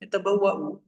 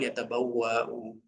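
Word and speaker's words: يتبوأ: Penulisannya begini, yatabawwa'u. Bagaimana cara mereka bisa membaca? Karena diajarkan dengan lisan. Oh, ini bacanya yatabawwa'u bukan yatabawwa'u. Bukan yatabawwa, ya, bukan yatabawwa, tapi yatabawwa'u.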